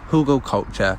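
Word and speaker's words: Hugelkultur: there for a while huge culture pronounced hugo culture means culture hill or hill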